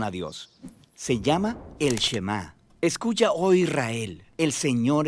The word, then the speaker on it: Shema: La primera palabra del Shema es oye o escucha, y en hebreo se pronuncia Shema.